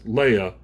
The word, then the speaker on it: Leia: name was Leia yeah it's pronounced just like Star Wars Leia and she she said